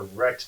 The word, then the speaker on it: Rect: has there's one that they call the rex tool and they actually spell it r-e-c-t but i think of